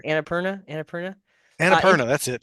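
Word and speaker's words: Annapurna: you said it right anap Perna anap Perna anera that's it Purina is a is a cat food anaer anera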